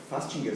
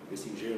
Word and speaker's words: Festinger: Fastinger, se escreve? Festinger, no caso.